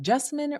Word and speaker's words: Jessamine: Now, I tend to tell people that Jessamine rhymes with specimen, but with a J.